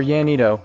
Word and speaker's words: Llanito: Llanito or Llanito, Spanish pronunciation, Llanito, is a Romance dialect.